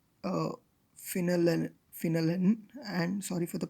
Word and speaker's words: phenylalanine: methyl ester of the dye peptide derived from pheneline uh phenylalanine phenylalanine and sorry for the pronunciation and aspartic acid it is also known